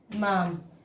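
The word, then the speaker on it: ma'am: क्या लिख सकते हैं, मैम, ठीक है, क्योंकि इसमें हमारा डीए साइलेंट है, इस तरह से कॉमा बना देते हैं।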